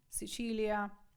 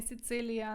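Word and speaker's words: Sicilia: Палермо Палермо знаходиться ін сичилія не Сицилія не Сицилія сичилія счилія наступне слово читаємо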